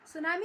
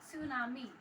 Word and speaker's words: सुनामी: वो साइलेंट रहता है, उसी तरह से सुनामी में जो आधा त है वो इसमें साइलेंट है, यानी शांत है, वो हमको क्लियर सुनाई नहीं आता।